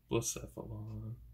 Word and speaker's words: Blacephalon: Blacephalon? Yeah. Blacephalon.